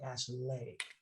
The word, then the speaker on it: Ashleigh: So is that Ashley or like Ashley? It's Ashley.